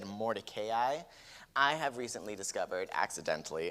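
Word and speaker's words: Mordecai: Now, if you were just mildly triggered by the way I said Morayi, I have recently discovered accidentally and horrifyingly that that is the proper pronunciation of his name. Morai is kind of like the shorthand.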